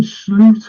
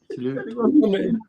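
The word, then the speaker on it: Slot: Anybody seen Sloot on the travels? That's how you're supposed to pronounce it. Sloot.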